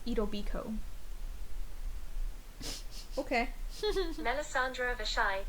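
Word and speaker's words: Etobicoke: suburb in Toronto pronounced Ito Biko what what it's Ido Biko even though the last part is called Coke it's Ido Biko okay another Sandra the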